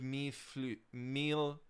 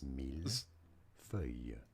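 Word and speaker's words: mille-feuilles: For reference, in French, this is said as... This is... Mille feuilles. Mille feuilles.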